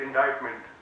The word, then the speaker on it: indictment: It is written as indictment, pronounced as indictment.